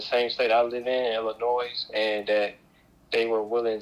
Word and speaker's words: Illinois: live in the same state I live in, Illinois, and that they were willing to travel to see. Oh, first of all, you live in the state of Illinois, and you've pronounced it Illinois.